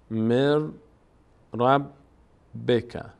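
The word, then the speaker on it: من ربك: تبدیل شده به را نون اینجا تلفظ نمیشه به جای نون ر تلفظ میشه مر رب بک م ربک مر رب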